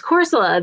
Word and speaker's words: Corsola: Oh, that's Corsola.